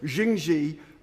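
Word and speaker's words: Jingye: Now, as we've heard and as we've read, Skunkorps Chinese owners uh Jing Xi I learn I should pronounce them Jing Xi uh have have uh turned down uh offers of help and they uh declare the Lincolnure plant as unviable.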